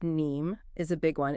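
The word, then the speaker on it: KNIME: Kenname pronounced NEe is a big one.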